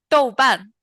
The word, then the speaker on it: 豆瓣: 豆瓣. Yeah. So Yes, they 豆瓣. use it Douban.